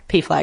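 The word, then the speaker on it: PFLAG: the right thing pf gal pf gal yeah p flag is better way better anyway so luckily cairns has a p flag group um and they're having a meeting it's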